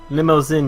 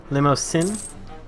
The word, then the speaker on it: Limousin: It's an S, and the way you pronounce is, the way you pronounce in is the real issue. Limousin.